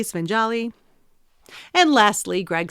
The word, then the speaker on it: Svengali: a writer and very accomplished why did you pronounce things wrong I don't get it buoyed Bowie spingali svenjali and lastly Greg says the scene with Elaine